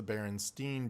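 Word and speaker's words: Berenstain: remember asking my mother is it spelled like Stein said like Stein or Steen when I was like a little kid and she said Steen so why would she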